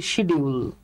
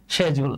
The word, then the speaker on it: schedule: শেজুল। আমি কিন্তু আপনাদেরকে ক্যামব্রিজ অনলাইন ডিকশনারি থেকে দেখাচ্ছি। শেজুল, তাহলে শেজুল না, নট শিডিউল কিন্তু।